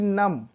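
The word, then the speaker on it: numb: Lamb, lamb मेमना होता है, जो भेड़ का बच्चा होता है उसे बोलते हैं लैम होता है, इसमें बी साइलेंट होता है। वैसे ही नम, शून्य होता है।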